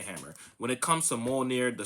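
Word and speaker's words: Mjölnir: The thing about Thor as as everyone should know, uh Mjolnir, which is how you pronounce it, not Mal-jeer-near or Mal-jer-near or Mal-jeer-near or whatever you guys say on the internet, Mjolnir uh is lifted by Thor's hammer, blessed to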